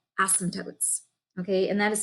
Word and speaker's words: asymptote: have what are called asymptotes okay and that is spelled a-s-y-m-p-t-o-t-e so in case it sounded like something else it's called asymptote which means it's a line